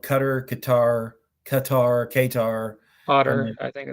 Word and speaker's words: Qatar: makes sense but anyway I feel like it rhymes with guitar but that's a whole